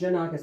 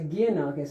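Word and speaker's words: Gianakos: and it's spelled pronounced Janakus like Japan. So in Japan they would always say guanakis and I said no it's Janakus like Japan.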